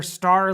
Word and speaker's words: Starre: newest tank in their star line i believe it's st AR re I've always said star I think that's how you pronounce it but not certain what